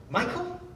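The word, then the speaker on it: Michal: Michelle. How do you say it? Somebody? Michael?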